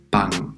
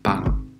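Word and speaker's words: 빵: veamos la primera palabra se pronuncia como pan y como ya he comentado antes al principio de palabra suena como una p no la inglesa que echamos algo de aire es la p española pan pan significa pan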